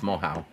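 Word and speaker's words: Moehau: It's Mohau. pronounced Mohau.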